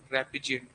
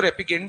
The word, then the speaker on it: repugnant: बोलते हैं यहाँ पर रेपिजेंट. बहुत सारे इसको रेपिगेंट भी बोलते हैं, बहुत सारे इसको रेपिजेंट भी बोलते हैं. इट इज a matter of pronunciation, जैसा ठीक लगे वैसा कर सकते.